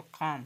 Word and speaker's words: calm: एल यहाँ पे silent है। फिर उसी टाइप से लिखा हुआ है CALM, तो इसको काम, काम का मतलब शांति, ठीक है, काम का मतलब शांति।